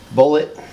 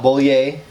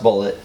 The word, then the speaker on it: Bulleit: Bourbon which would be bullet not bully a someone was telling me it was French it's not well it is but it's pronounced bullet it's gonna be the